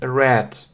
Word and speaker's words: read: irregular we say read red read red red read red red and so you say I read it I read it as you see the spelling is the same but the pronunciation is different yeah the spelling is